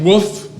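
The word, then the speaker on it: WOF: warmed over flavor W sometimes they pronounce it woof when they're when they're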